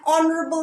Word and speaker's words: honorable: to the throne an honorable man so we use and for these words because here you see h is not pronounced it is silent h is silent here okay now next exception